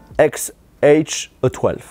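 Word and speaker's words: X Æ A-12: Ça se prononce XH-12, un truc comme ça.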